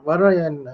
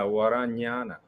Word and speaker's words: Varanyana: And now I'd like to invite Bhante Varayan. If I'm pronouncing that right, Bhante, is it Varayana? Yeah, Varanyana.